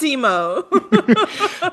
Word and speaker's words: Thiemo: Timo. Theme. I was like, his name is spelled Thiemo. I know, I But was sure, like, that's Timo.